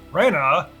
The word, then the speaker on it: Rena: is Raina Raina Lanford oh they're pronouncing it Raina now as I remember hearing I think in the original I remember hearing one of the battle quotes was Claude shouting Rea but normally that's pronounced Rena but now they're saying Raina I think I also heard